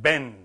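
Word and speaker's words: בן: Well, you write it with two letters, but you say it Ben.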